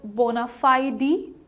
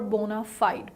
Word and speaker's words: bona fide: Okay, how about this word, bona fide or bona fide? Both the pronunciations are correct. The US pronunciation, the American pronunciation is bona fide, and the British pronunciation is bona fide.